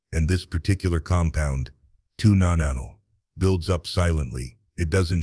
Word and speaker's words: nonenal: Tuna nano, pronounced nonanal, is an organic compound, basically a byproduct your skin starts to produce as you age.